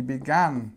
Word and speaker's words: began: she began to cry so look what we have here is we have this sound ah she began to cry okay now what about